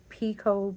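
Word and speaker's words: picot: get this little I don't know how you pronounce it PCO p p i c o t there then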